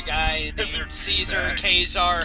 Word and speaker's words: Caesar: Kazar, however you pronounce it. Kaisar. I've heard it pronounced 3 different ways, Yeah. so... Well, I'm kind of going off of the, what the actual, Legionnaires call Yeah, them. they call him Kaisar.